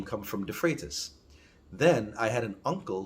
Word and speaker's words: Freitas: go up to the freights now that's how they say it there in the english forum but it's de freitas but by the time